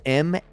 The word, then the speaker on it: M&A: Emmy? Just like the letters M&A.